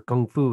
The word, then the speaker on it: Kung Fu: There, people that don't know the sound for Kung Fu, it's like half G, half K.